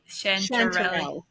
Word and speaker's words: Chanterelle: Actually, before we start, how do I pronounce your name? Chanterelle. Chanterelle.